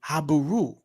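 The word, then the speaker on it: Habiru: But you would pronounce their name Habaru.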